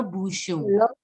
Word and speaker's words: bouchon: I've told you, the last word is not pronounced. The last letter is generally not pronounced in French. So you have to pronounce till bouchon. And it's a nasal sound. So it is le bouchon.